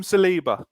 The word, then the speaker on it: Saliba: uh now how was it how is it pronounced is it salabha saliba saliba saliba let's talk about william saleeba um looks pretty good graham didn't he well